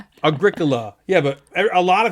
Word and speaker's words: Agricola: a different pronunciation a a battle with the pronunciation yeah like people cannot say agricola no remember eric used to call it agricula yeah agricula people call it agricola agricola yeah it's agricola that's just agricola that's the only way to pronounce it okay